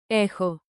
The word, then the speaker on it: έχω: I have echo you SG have ehis he she it has ehi we have ehume you plural have ehete they have ehun Pro tip, pronounce chi like a soft KH.